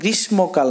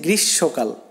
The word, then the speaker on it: গ্রীষ্মকাল: এখানে তোমরা অনেকেই ভুল করো এই উচ্চারণটা, এটা কিন্তু গ্রীষ্মকাল নয়, এটা হচ্ছে গ্রীষ্মকাল।